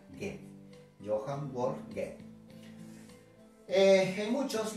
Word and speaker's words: Goethe: Se escribe Goethe, pero se pronuncia Goethe.